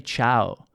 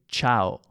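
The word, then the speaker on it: ciao: don't exist in Italian We don't say /ʧaʊ/ We say /ʧao/ /a/ - /o/ A - O The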